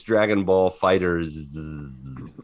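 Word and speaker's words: Dragon Ball FighterZ: There's like Dragon Ball Fighters. It's just with a Z Fighters. at the end. Yeah. But so it's Dragon Ball Fighters.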